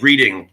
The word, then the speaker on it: Reading: It's spelled like reading, but it's not. It's Reading.